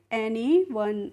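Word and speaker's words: anyone: एनी और ओ एन ई को हम पढ़ते हैं वन। तो इसको हम पढ़ेंगे एनीवन।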